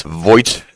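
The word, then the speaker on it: Voith: fixed quite fast yeah it's void and the th that does not show up in how you pronounce it but in the writing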